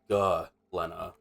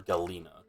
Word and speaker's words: galena: Apparently, Galena or Galena. Like Guh, apparently. I think I was saying like Gel for some reason.